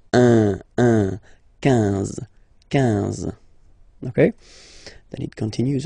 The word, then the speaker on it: quinze: Same thing here, U doesn't exist, so quinze, quinze, quinze, alright? IN, nasal, so it's un, quinze, quinze, okay?